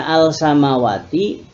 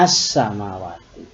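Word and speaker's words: السماوات: Yang penulisannya al samawati dibaca as samawati.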